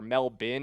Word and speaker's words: Melbourne: They are facing 30 total hours of travel, as they go to Melbourne in Australia, or Melbourne, as some people have informed me in the comments. It is pronounced locally.